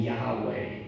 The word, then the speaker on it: Yahweh: Now some pronounce the name Yahweh or Yahweh, although in many traditions the name isn't even pronounced because it's considered so sacred, so mysterious, so holy.